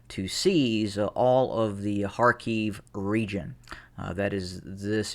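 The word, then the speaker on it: Kharkiv: see on the map call it harkev harkoff i i am used to world war ii history in which it was it was called uh harkoff and that's why i pronounce it as a as such harkeef it really doesn't make a difference to me though but uh i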